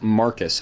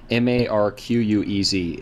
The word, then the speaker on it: Marquez: a building on our campus it's called apparently pronounced marcus hall but it's spelled m-a-r-q-u-e-z it has become marquez for ever since even